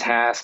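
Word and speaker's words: Hass: And unfortunately, yeah, it is Haas. It rhymes with past, or other things that I probably shouldn't say on a webinar.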